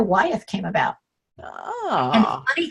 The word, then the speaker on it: Wyeth: And he goes, that's a very common name on the East Coast, and it's pronounced Wyeth.